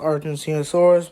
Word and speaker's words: Argentinosaurus: among them the biggest it's pronounced Argentinosaurus but uh whatever ever